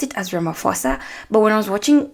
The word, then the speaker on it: Ramaphosa: Now, I pronounced it as Ramaphosa, but when I was watching the videos about him just to prepare for this episode, people say Ramaphosa.